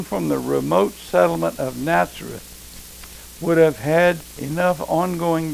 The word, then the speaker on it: Nazareth: Little is known about Nazareth, correctly pronounced Nazareth.